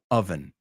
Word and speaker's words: oven: Oven or oven? Oven. It's oven. Aunque es una A, no es una A.